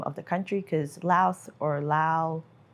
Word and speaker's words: Laos: Yeah, it pronounces the S at the end, whereas I found a lot of local people here don't say the S, they just say Lao.